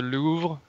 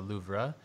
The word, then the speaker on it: Louvre: yeah, Hey, how do you pronounce it? Is it because I heard people saying it's the Louvre, and then the Louvre. Yeah, the Louvre. Louvre, Louvre, Yeah, like crêpe, crêpe, crêpe, Louvre. Yes, exactly.